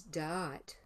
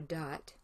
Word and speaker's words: Da'at: And then the second name is Eloah, and the third name is Da'at, or Dot, which is easier to pronounce than trying to make it two syllables.